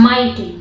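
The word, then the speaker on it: mighty: य सिटी ठीक है माइटी माइटी में आप देखेंगे एम आई से माई और जी अगर टी के पहले आया हो तो हमेशा साइलेंट रहता है और टी वाई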